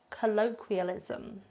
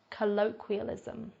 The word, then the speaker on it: colloquialism: number three we've got colloquialism colloquialism now again with that q sounds like we've mentioned before in previous videos it is pronounced more like a K sound instead colloquialism is the term